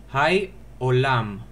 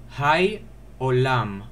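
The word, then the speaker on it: היי עולם: Hai olam. I repeat, Hai olam.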